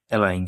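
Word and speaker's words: align: অনেকে অ্যালাইন বলে, আবার এলেঙ্গে বলে। মানে যেটাই বলুক শুদ্ধ বাংলা শুদ্ধ উচ্চারণ হচ্ছে অ্যালাইন, হ্যাঁ?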